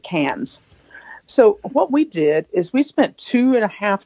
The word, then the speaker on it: Cairns: And we got through customs, and then we flew up to Cairns, which is actually looks like Cairns, but Australians pronounce it Cairns.